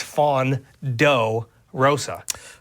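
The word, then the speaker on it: Fawn Doe Rosa: And it's fawn do Rosa. And can you spell it for me? Fawn. F A W N. Oh, like the deer. Like do like D O E. Oh, Rosa. It's a play on words.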